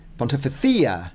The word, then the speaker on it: Pontificia: Pontificia. It's got the emphasis there, and there's the C sound as well, Pontothea, any of those cia in Mexican, thea in Espanol or Castellano.